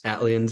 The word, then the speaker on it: Atlians: And now I know it's supposed to be like Atlanta, ATL, but is it pronounced Atlians? Atlians, yeah.